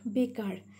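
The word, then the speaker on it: baker: A is sounded as A, and by adding B, bay. Okay, one syllable. And in the same way with ER, R, by adding K with ER, it will sound like car.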